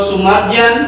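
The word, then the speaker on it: Soemardjan: Ini Sojana So ini ini ahli-ahli Sojana Sukamto, Guncaraningat, Selo Sumarjan dan IO ini tuh Soe ini kan ejaan dulu soe ini ejaan dulu dibacanya su sumajan. Sumaj sama kayak presiden siapa?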